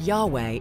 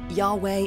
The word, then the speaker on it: Yahweh: Scripture they are in actual translations or even pronunciations the word Yahweh is a good example of that Yahweh is God it's the God of the Jews